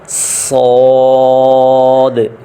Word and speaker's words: صاد: زا، سین، شین، صاد۔ صاد اور ضاد کو پڑھتے ہوئے سپیلنگ میں جو آخری دال ہے اس پہ حرکت آئے گی: صاد، ضاد، طا ظا عین۔